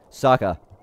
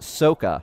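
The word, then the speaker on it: Sokka: firebend with his mind Saka the boomerang seriously or is it's properly pronounced sooka right mite ladies and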